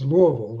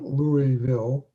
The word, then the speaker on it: Louisville: in louisville yeah and it's louisville not louisville right definitely yeah you can tell when someone's an outsider if they say it like that that's right well welcome